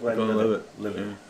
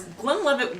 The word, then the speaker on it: Glenlivet: Glenlivet.